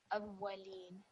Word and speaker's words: الأولين: So just a very clean E sound at the end. Awwalin.